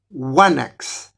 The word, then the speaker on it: wanax: y que por ejemplo palabras del del griego clásico como Anax, que son rey, en la edad de bronce se pronunciaban wanax, pues esto hace que